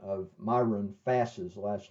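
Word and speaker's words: Fass: the I'll first mention about the uh the pronunciation of my Rune fast's last name all right uh for the longest time I was calling it Foss because I had heard a couple of people pronounce it Foss and I thought that was correct but one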